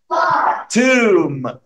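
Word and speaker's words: tomb: توم. الكلمه دي يا شباب بتتنطق كانها مكتوبه كده. توم. البي سايلنت، اي ام يجي بعدها بي في البوك تبقى البي سايلنت على طول.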